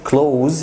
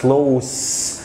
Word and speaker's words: close: number one close في الانجليش close the door، لما بنطق الاس زد close يعني في الباب، لكن لو نطقت الاس اس زي ما هي بتبقى صفة بمعنى قريب. مثلا احنا اصدقاء مقربين، we are close friends، يبقى عندي close